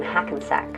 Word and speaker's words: Hackensack: 1942 and raised in Hackensack rhymes with never go back New Jersey but his